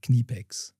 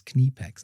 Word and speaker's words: Knipex: So for for we say Kipex.